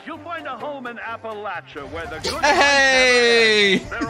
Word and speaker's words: Appalachia: I'm glad they're saying Appalachia correct. Right. A lot of people are gonna learn how to say it right now.